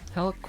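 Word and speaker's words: Helck: left side and then it's the mario from hulk wearing a tri-slosher on her head hulk is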